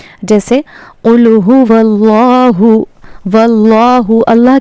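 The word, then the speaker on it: ٱللَّه: जैसे कुलूहु व्लाहु व्लाहु अल्लाह के लाम को हमने ला नहीं पढ़ना बल्कि लौ पढ़ना है।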